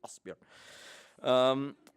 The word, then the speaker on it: Asbjørn: We say Asbjørn. Not Asbjørn, as Asbjørn, what is it? Asbjørn? Asbjørn, yes.